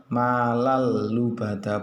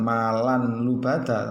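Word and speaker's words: لُّبَدًا: kepada lam itu sendiri, cara membacanya adalah malallubadha, bukan malan lubada jadi salah itu ya, yang betul bagaimana? yang betul adalah malallubadha seperti itu Ok, paham?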